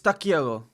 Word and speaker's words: takiego: That sounded Spanish. Kolego, to nic takiego. That sounds Spanish? Takiego. Oh, is it because the... Oh, it's because I'm pronouncing the G lightly.